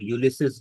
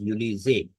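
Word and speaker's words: Ulysses: और बिल आखिर 1864 में जनरल ग्रांट यूलिसे की कयादत में, आ, जिसे लोग यूलिसिस या यूलाइसिस भी कहते हैं, एक्चुअल प्रोनाउंसिएशन इज यूलिजे, ग्रांट यूलिजे की कयादत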